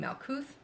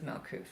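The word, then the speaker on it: מלכות: That bottom point of the inverse pentacle being Malkuth, or excuse me, there is no T evidently in Hebrew pronunciation, I guess, but regardless, everybody knows it as Malkuth, so unless they actually speak Hebrew.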